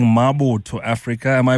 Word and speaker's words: Mabotho: Now I'm a Mosoto man and I was saying Maboto Africa. Am I pronouncing it correctly? Yes, it's Maboto.